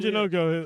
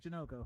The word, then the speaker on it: Janoko: It's Tim like Janoko. Janoko, so it's like Sunoco, but Janoko.